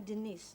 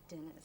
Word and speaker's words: Deniece: Okay, and you pronounce my name Deniece, not Dennis.